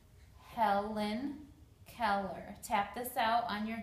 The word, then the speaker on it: Helen Keller: For the name Helen Keller, there's her picture right there. I broke it into syllables. There are four vowels. They all make a sound, so it's Helen Keller.